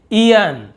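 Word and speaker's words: aeon: तो यहाँ पर आप देख रहे हैं ए ई पहले लिखा हुआ है, तो इसे हम क्या पढ़ रहे हैं, ईयन। क्या पढ़ रहे हैं, ईयन। तो देखिए बड़ी की मात्रा ईयन, ऐसे एयोन ऐसे लिखा ना, ईयन, ईयन यानी युग।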